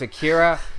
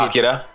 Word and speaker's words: Akira: It's like as a big fan of Akira the film, you know, whenever people say that name wrong, I always have to correct them. Okay. Always. Akira. Not Akira.